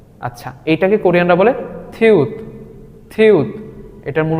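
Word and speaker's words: 티읕: এর মত তাই না আচ্ছা এইটাকে কোরিয়ানরা বলে থিউত থিউত এটার মূল উচ্চারণ থপর আমরা যেই বর্ণটি দেখতে পাচ্ছি এই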